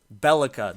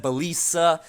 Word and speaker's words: Belica: __ ] the lieutenant Lieutenant bellica that is how you pronounce her name okay Lieutenant bellica I know I said bisa like by bisa ba